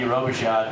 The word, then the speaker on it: Robichaud: pronouncing my last name it's uh r-o-b-i-c-h-a-u-d roboshot you guys remember we